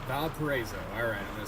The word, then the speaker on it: Valparaiso: Valparaiso. Valparaiso. Alright, I'm gonna say that 10 times in my head. Valparaiso.